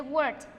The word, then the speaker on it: worked: No se dice worked, se dice worked.